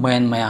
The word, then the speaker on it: Myanmar: असल में इसका नाम म्यानमया है। दरअसल बर्मी भाषा में र का उच्चारण यह होता है।